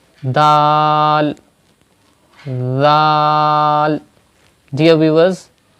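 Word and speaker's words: دال: Dal. Dear viewers, you have to read dal without whistle sound. Whistle sound means this sound, z. If you pronounce this letter like that, zal, it is wrong.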